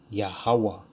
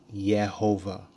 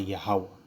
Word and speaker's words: Yahawah: again that's how you spell the lord's name yahawah right so even even even going from the